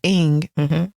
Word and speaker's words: Ng: you for that awesome Celeste how do you pronounce her last name Celeste Eng love it can you give us a brief